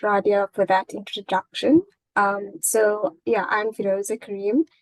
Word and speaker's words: Feroza Cariem: So I'm here with Feroza Cariem.